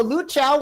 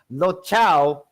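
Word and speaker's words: Luocha: Yeah, so Lu Chao was... I mean, not Lu Chao. Lo Chao, or Lo Chao, Ka-Chao, was in a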